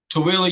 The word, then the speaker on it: Tooele: Tooele, Utah. Tooele. So like do like the number two and then Illa. Tooele. I need to look up here because my camera's up here. Tooele.